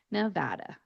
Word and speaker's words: Nevada: want to do is keep your jaw relatively closed when you are pronouncing the A's in the word. You're going to pronounce it more with an American type A than with a Spanish or open vowel sound type A. So when you pronounce it, you are going to say Nevada, Nevada.